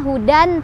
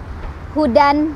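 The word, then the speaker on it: هدى: gitu ya Hudan Hudan tetapi ketika berhenti tanwin fathahnya berubah menjadi fathah saja dan dibaca panjang 2 ketukan maka cara baca ketika berhenti adalah Huda Huda gitu dua ya Huda yang salah Hudan masih di Pajak dannya atau Hud salah atau Hud salah juga harus dibaca Jadi dua harokat dan fathah saja nah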